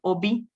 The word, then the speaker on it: hobby: And in Spanish, they have this word afición, the Spanish word for hobby, but they also use the English word hobby, just without pronouncing the letter H.